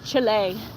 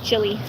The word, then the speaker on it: Chile: I know it's Chile. We always say Chile. Americans say Chile. I know it's it's actually Chile, but Chile. It just feels better coming out of my mouth as chili.